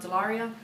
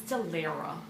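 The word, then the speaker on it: Dellaira: The first book I read this month was Love Letters to the Dead by Ava Delaria. Why do I always say her name wrong? It's Delira. Something.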